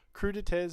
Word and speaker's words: crudité: So having a little look on just on Google, crudités is a French word, and it just means in English raw vegetables.